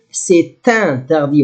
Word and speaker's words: c'est interdit: If you would together, c'est interdit. Must say pronounce letter T because I have vowel. Here, I will not pronounce it.